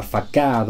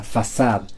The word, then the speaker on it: façade: Otro ejemplo sería esta palabra, que a primera vista podríamos pensar que se pronuncia facade o facade, pero en realidad se pronuncia façade, ya que proviene del francés.